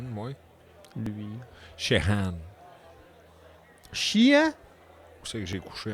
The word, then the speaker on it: Sheahan: Prononce ça comment? Shehan, moi. Lui. Shehan. Sheahan?